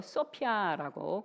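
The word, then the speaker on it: σοφία: 자, 지혜는 헬라어로 소피아라고 그렇게 발음합니다.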